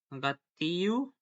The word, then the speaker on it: gâteau: Not a common, but also from the French, the word contains letter groups of EAU. This is announced pronounced as O, as the toe, when the U is